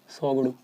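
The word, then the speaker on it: Tshogdu: सोगडू, टी इसमें silent है।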